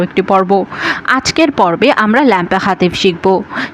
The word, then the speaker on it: l'impératif: আজকের পর্বে আমরা ল্যাম্পে হাতিফ শিখবো। কি দর্শক? ল্যাম্পে হাতিফ। আই এর উচ্চারণ কিন্তু এর মত হয়। এটা কিন্তু আমরা আগেও জেনেছিলাম। এটা কিন্তু আমপে হাতিফ না। হাতিফ। যেহেতু প্রথমে এল আছে অপোস্ট্রফ।